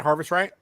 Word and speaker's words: Harvest Right: Harvest Right?